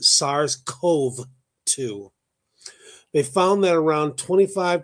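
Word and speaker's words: SARS-CoV-2: a PCR test for SARS Co 2 the virus that uh causes covid-19 so is I I mispronounced it SARS Cove 2 they found that around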